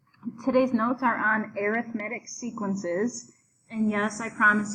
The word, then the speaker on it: arithmetic: Today's notes are on arithmetic sequences, and yes, I promise you it is pronounced arithmetic, even though it looks like arithmetic. But when we're talking about sequences, it's pronounced arithmetic.